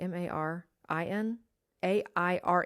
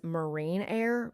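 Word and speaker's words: Marinaire: a and I think the recording even says Marine air because the recording doesn't know how to say it but when I talk to a person on the phone it's Marin air so we did that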